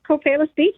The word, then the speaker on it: Copalis Beach: Yeah, it's Copalis Beach.